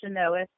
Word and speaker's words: Chynoweth: You can find everything on my website, which is with one L, and my last name, pronounced Chynoweth.